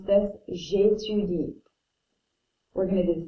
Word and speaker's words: j'étudie: This means I study, and we pronounce this j'étudie.